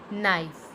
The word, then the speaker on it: knife: When K and come together, it make a sound of N. It means K is silent. Let's see some example. Knob, knee, knife, knot, night, neat, knock, knuckle.